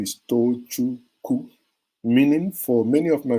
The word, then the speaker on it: Tochukwu: I break it into 3 syllables for you. To, chu, Ku. And in doing that, you saw them most times, I stopped them from murdering me because they murder me. They say, Doche Ku.